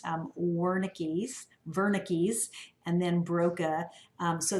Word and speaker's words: Wernicke: these two guys here one has this is pronounced um wernicke's wernicke's and then broca so this guy has